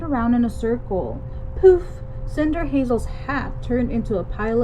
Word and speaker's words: Cinderhazel: from going by my witchy wig you're right pronounced Cinder Hazel then she frowned at her broken broom